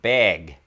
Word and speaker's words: bag: It's not bag, it's more like beg. Beg, as in to beg for food.